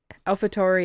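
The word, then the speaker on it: AlphaTauri: Oh, he raced five races for Alfatari. Is that how you say it? Yeah. I did watch It's Alfhaturi is just Red Bull's junior team.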